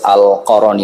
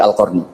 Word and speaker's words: al-Qarni: Baru-baru ini, saya telah mengeluarkan fatwa untuk tidak membacanya sebagai Uwais al-Qarani, tetapi al-Qarni.